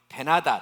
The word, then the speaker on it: 벤하닷: 그리고 그 나라에 왕의 이름이 있는데 왕의 이름이 벤하닷입니다. 벤하닷. 그래요. 한번 따라해 보실래요? 베나닷.